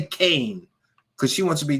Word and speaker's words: Kean: I'll say it right the lady spells her name k-e-a-n that's Keen to me but no she wants people to say Kane because she wants to